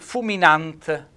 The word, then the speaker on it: fuminant: Allora, innanzitutto parto col fuminant, vedete un bel accento tonico sulla A, è il fiammifero.